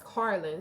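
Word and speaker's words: Carlyn: Like it's Carlin. C A R L Y N. Car and then Lynn.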